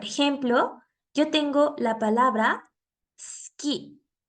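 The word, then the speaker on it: すき: yo tengo la palabra Ski Ski que significa gustar Ski en este caso la u no está al final de la palabra pero tenemos que eliminar su ido para pronunciarlo correctamente una vez más sonido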